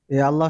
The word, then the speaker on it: আল্লাহ: র আওয়াজটা মোটা আবার আল্লাহ শব্দ পাতলা পাতলা না মোটা মোটা মোটা আল্লাহ শব্দটাও মোটা উচ্চারণ হবে। কারণ আল্লাহ শব্দের লামের আগের হরফে পেশ আছে।